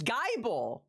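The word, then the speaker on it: Gible: How would you pronounce this? Because to me, Gibble? No. No, it's Geibel. It has an E at the end.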